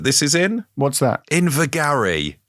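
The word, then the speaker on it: Invergarry: is in what's that invigary invergary yeah as in glenn gary oh we're gonna have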